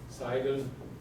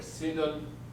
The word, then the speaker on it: Sidon: Tyre, Sidon, or Sidon. I've heard people pronounce it both ways. So apparently there is no correct way to do it.